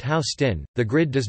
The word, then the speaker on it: Houston: Although the grid does start with 1st Street, just north of Houston Street, the southernmost street divided in west and east portions, pronounced Houston, the grid does not fully take hold until